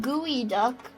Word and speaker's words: geoduck: Oh, sorry, it's pronounced Gooey Duck.